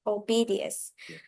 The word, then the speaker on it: Oedipus: in the legend of Oedipus and reflects the themes of fate, knowledge, and human life stages in Greek mythology. Yeah, it's one of the most important ones. Actually, this pronunciation is Oedipus.